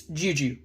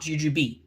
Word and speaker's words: jujube: by the way it's Juju not jujube the B is silent so Juju are these